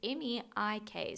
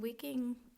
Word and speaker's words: Meik Wiking: The author is, I might say his name wrong, Meik, it's Meik, so Meik, Wiking.